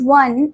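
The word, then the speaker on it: one: द ओ इज वन इन द ओ इज वन is pronounced as डब्ल्यू इन वन अ कसोनेंट sound. अब आपको लग रहा होगा जो ₹1 नोट है उसमें वन में तो ओ है और ओ तो वोवेल होता है। नहीं पर वन में हमारा साउंड कैसा आ रहा है?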